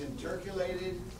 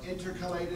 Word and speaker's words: intercalated: this word big time is intercalated or intercalated I don't care how you pronounce it I've heard it both ways intercalated intercalated disc and